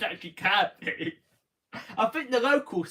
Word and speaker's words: Kirkby: It's spelled Kirkby, but it's pronounced Kirby. I know, that's the thing. I know I always get someone saying that because I said it as Kirkby, don't I?